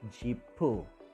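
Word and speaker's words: 지프: But in Korean or in Hangul, we are using two syllables, which is jeepu.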